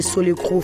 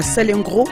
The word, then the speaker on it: Salengro: à Lille 2, à l'hôpital Roger Solecro, France. Est-ce que j'ai bien prononcé? C'est comme ça? À Salengro, en France.